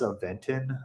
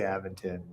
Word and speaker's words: Aventon: them was aventon uh which they pronounce aventon um but I say aventon and no one can tell me otherwise um so here's my